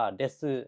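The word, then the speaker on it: です: กับ ซึ นะ ครับ คน สมัย ก่อน ญี่ปุ่น นะ ครับ จะ ออก เสียง ว่า เดซึ นะ ครับ เดซึ แต่ ว่า คน สมัย ใหม่ เนี่ย เขา จะ พูด กัน ค่อน ข้าง เร็ว นะ ครับ จน เสียง เนี่ย มัน ถก ยุบ จาก เดสึ กลาย เป็น เด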